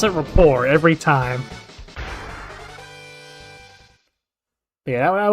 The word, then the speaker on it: Report: I was watching Daily Show and Coar and I'll still pronounce it rapport every time.